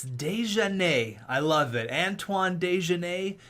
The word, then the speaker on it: Desjardins: Your dad in the comments, that's right, your dad, he says the coach's last name is pronounced like this, and it's Desjardins.